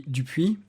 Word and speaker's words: Dupuy: Yeah, you're saying it right. If you would say it in French, it would be Dupuy, but it's fine.